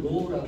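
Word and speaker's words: ρ: 시그마라고 읽습니다. 시그마. 이거는 로우라고 읽습니다.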